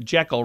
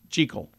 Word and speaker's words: Jekyll: Hyde, but we say it Jekyll, rhyming with Interesting. heckle. It's supposed to be Jekyll. Rhymes with treacle, which I've never heard of before.